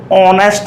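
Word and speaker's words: honest: ये एच से शुरू होता है, लेकिन अगर इसका सही प्रोनाउंसिएशन किया जाए तो ऑनेस्ट मैन होता है।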